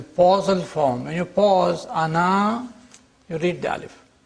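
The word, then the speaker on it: أنا: pronounced in the pausal form when you pause Ana you read the AL pronounce the alif but but then you don't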